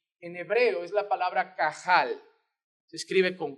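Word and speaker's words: קהל: nosotros leemos aquí en hebreo es la palabra cajal se escriben con q a h a él no se escribe así es así se escribe en castellano pero se pronuncia de esta manera cajal y es la palabra que en el antiguo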